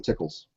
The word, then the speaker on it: TCL: concept of calling them tickles what do you make we make because it's TCL transparent crypto Ledger and if you're gonna say it right you're not gonna say TCL just easier to say tickle so what do you